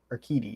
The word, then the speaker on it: Urquidy: Pronounce his name for me, because I struggled with it earlier. Jose Urquidy? Urquidy, yeah.